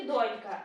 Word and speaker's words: донька: Доня донечка От і донька наголос на першому складі А це я вже